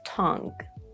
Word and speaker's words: tongue: With this form of UE at the end that are silent, we also have tongue.